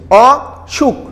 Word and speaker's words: অসুখ: অসুখ, অসুখ। দন্তুস্বয়ের উচ্চারণ তালবু স হয়ে গিয়েছে কেন?